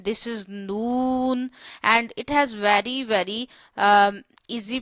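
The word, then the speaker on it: نون: This is noon, and it has very easy pronunciation. You have to touch your tip of the tongue to the roots of upper four front teeth.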